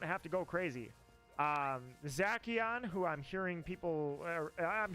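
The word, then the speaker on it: Zacian: Um Zachon, who I'm hearing people I'm hearing the official pronunciation is Zashion.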